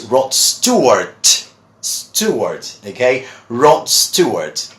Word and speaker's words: Rod Stewart: with your singer well many people call him rod Steve word or whatever but his name is Rod Stewart two words okay Rob